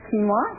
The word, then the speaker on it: quinoa: it's pronoun it's spelled q i n o a okay but it's pronounced quinoa quino so like friend of mine if you just think of Kino the lottery it's kind of like